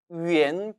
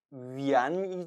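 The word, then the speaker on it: 元: 표현을 하게 된 것이죠 비록 정확한 발음은 위엔 이지만 이제는 너무나 많은 사람들이 위한 위한 하다 라고 표현을 해서 어쩔 수 없이 위한 이라고 표기 는 합니다만 여러분들은 이제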